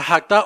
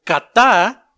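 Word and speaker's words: חטא: Pecado del hebreo que se pronuncia hakta o kata.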